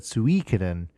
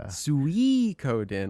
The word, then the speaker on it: Suikoden: You said Suikoden. Suikoden. I've always said it that way. Is that not correct? No, the I is not emphasized. The Suikoden. Like you're calling a pig like Sui, when you call your pigs.